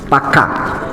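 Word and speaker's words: פקד: Y por ejemplo, visitó en el Strong, la pronunciación es Pacá.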